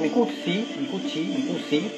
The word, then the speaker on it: Mucucci: Es Micucci, porque es apellido de origen italiano y la doble C en italiano se pronuncia como che.